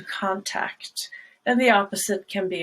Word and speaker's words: contact: at examples of that one example where that is not true is the word contact it's a contact and to contact and the opposite can